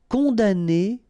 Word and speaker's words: condamner: Condamner pour. Remember, we don't pronounce this M here.